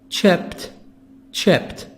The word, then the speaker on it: chipped: The D here is going to be pronounced T. Why? Because the last sound is the sound of P, like hope, hoped. Not D, but we read it. We say it T.